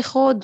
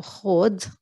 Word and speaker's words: خود: You can also say خود وخدي. Obviously, in the standard way of writing is with the ذا, but we commonly pronounce it as ذا. So خود from verb أخذ.